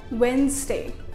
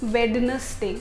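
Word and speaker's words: Wednesday: हम ये जो डी होता है ना इसके अंदर, इसको प्रोनाउंस करते हैं, लेकिन ये नहीं करना है प्रोनाउंस। आपको क्या बोलना है? वेंसडे। डी को भूल जाइए, उसको साइलेंट रहने दीजिए, वेंसडे।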